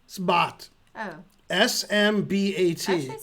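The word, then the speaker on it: Smbat: Or how do you say it again? Sbat.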